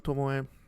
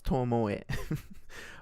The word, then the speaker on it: Tomoe: First awaken, each Sharingan usually will only have one Tomoe. Which, by the way, I think it is pronounced Tomoe. I've seen people just write it as Tomo. Or say Tomo. But no, it's Tomoe. Although in some cases they immediately gain two.